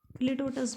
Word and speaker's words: litotes: और लिटोटस भी बोलते हैं, क्या कहते हैं म्यूसिस को, लिटोटस।